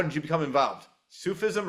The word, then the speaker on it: Sufism: Sufism or suffism? Oh, Sufism. Yes.